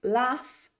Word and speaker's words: laugh: although or though or sometimes that GH is pronounced as an F so words like laugh or cough bring brought brought bring